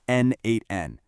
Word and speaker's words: n8n: The second piece of our puzzle is n8n, and that's pronounced n8n.